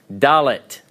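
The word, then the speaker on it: ד: along on the chart all right next letter dalet dalit alright it has an English approximation of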